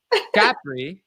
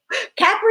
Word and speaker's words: Capri: Capri. How do you say it? Capri is how Jesse on The Valley called it. It's Capri, but he says Capri. It's his favorite.